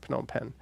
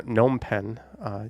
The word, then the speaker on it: Phnom Penh: I actually have videos on this channel from around Phnom Penh or Phnom Penh. Some people say you don't pronounce that first P, but you will hear it pronounced.